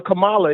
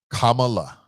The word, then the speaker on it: Kamala: I know what a comma is, and I know what a Kamala is, too. Okay, so you say comma and then say la. Kamala. No, it's Kamala.